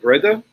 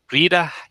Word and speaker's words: Brida: Is it Breda? So I will offend any of our Swedish listeners of the Gauntlet, but it should be Brida Hjalmarsdottir.